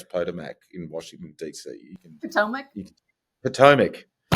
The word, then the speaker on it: Potomac: How do you pronounce Potomac in Washington DC?